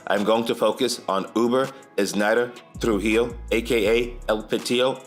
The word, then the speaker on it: Wber: spelling of his name it's spelled like Weber but is pronounced Uber like the ride sharing app I don't think it's